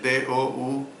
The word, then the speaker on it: doulos: era la palabra doulos, y se escribe D-O-U-L-O-S, pero se pronuncia doulos.